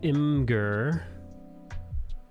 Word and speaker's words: Imgur: Hey, you got an Imager link, or as I like to pronounce it, Imgur.